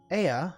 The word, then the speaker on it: Ea: When the vibration of vocal folds was still required to convey our thoughts and intention, Ea, I believe, was the pronunciation when referring to our people.